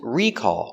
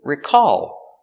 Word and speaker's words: recall: The noun is recall with the stress on the first syllable.